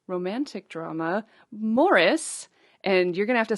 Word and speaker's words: Maurice: Brackets the actual the the phonetic reading of Morris uh above the title so that I I say it correctly m o double r